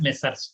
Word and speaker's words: Messrs: You have to pronounce as Messrs.